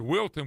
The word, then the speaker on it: Wilton: You told me it rhymes with Hilton, but Wilton, which is a cool name.